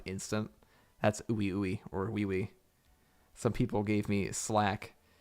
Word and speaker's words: Ui Ui: But at some point, it's pronounced wee wee. Is it? Well, I call the ooey ooey, to my shame. I was told multiple times that it is called wee wee, so that's what you're gonna hear in the next video.